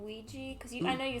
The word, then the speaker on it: Ouija: I mean, people pronounce it Ouija or Ouija, but it's oui, ja for a French yes and German yes.